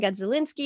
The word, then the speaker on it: Gadzalinski: today i am joined by the fabulous kevin godzilinski and i hope i pronounced your last name right you did very